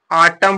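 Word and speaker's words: autumn: पढ़ेंगे सालम माने गंभीर यहां पर देखिए एन को साइलेंट कर दिया तो क्या पढ़ेंगे आटम पढ़ेंगे क्या पढ़ेंगे आटम पढ़ेंगे एन का उच्चारण नहीं करेंगे आटम माने पतझड़ यहां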